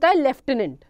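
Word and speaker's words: Lieutenant: Spelling जो लिखी है वो लिखी है ल्यूटेनेंट की, प्रोनाउंसिएशन जो होता है लेफ्टिनेंट, ठीक है. लेफ्टिनेंट लिखते हैं, प्रोनाउंस इसको लेफ्टिनेंट करते हैं.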